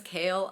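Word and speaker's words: Chaol: up with kale I guess his name is kale I I think it I think it should be pronounced Cole but apparently it's kale and the spelling makes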